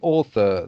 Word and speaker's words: author: But here you're meaning the author, that is to The say, author.